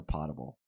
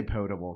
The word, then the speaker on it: potable: And do you pronounce it potable or potable water? I say potable because it would be potable if there were two T's.